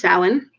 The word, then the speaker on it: Samhain: Samhain is pronounced Samhain, also known as All Hallows Eve.